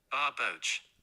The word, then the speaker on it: Barboach: I'm gonna look up how to pronounce it properly because I don't know how to pronounce it. Um, Barboach.